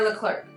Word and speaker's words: Leclerc: No, guys, pronunciation. Leclerc or Leclerc.